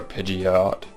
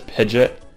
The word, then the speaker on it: Pidgeot: a Pidge or a Pidgeot but I I've heard people pronounce it as pidet and Pidgeot so I'm not too sure I actually don't even